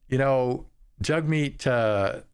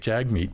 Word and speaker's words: Jagmeet: Jagmeet, apparently that's how you pronounce it. I was pronouncing it Jagmeet, but apparently it's Jagmeet.